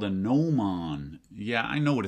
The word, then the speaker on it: gnomon: Pointy thing is called the gnomem, pronounced gnomon.